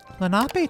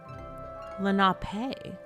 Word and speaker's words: Lenape: Lenape tribe. Lenape. No, it's Lenape. Lenape. Lenape. Yeah, that's Lenape. that's how emphasis works. Emphasis on the right syllable.